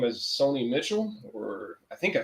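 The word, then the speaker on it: Sony Michel: And speaking of, I think they pronounce his name as Sony Mitchell, or I think I said his name right. If not, forgive me. He's no longer with the team. And he Sonny Michel.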